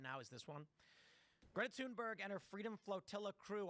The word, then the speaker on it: Thunberg: First of all, it's pronounced Tunberg, guys. You heard her. Everyone always calls her Thunberg.